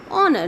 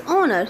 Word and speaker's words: honor: H is unpronounced, so it is honor.